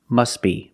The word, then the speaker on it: must be: then you could say must be. But if you link the words, you pronounce it must be. Must be. The T is silent because it's between consonants.